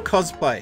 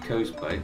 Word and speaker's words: cosplay: out of the way is it cosplay or cosplay cosplay it's cosplay I've never heard it pronounced coastplay I don't know I'm I pronounce everything weird